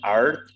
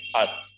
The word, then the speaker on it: earth: We will not pronounce R, we will not say earth, we would say earth, earth.